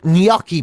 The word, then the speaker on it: gnocchi: Apparently you're supposed to put a Y in it. So apparently it's like gnocchi. Gnocchi. Gnocchi is supposed to be how you pronounce that. So it's bruschetta followed by gnocchi, please.